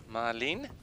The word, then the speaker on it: Ma Lin: This is Ma on the back of his shirt. Often pronounced or said Marlin.